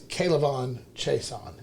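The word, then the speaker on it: K'Lavon Chaisson: That is Kalavon Chason, is how you say I that.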